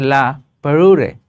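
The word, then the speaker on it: La Parure: নাম কি লা পারুরে এটা উচ্চারণ হচ্ছে লা পারুরে ঠিক আছে ফ্রেঞ্চ ফ্রেঞ্চ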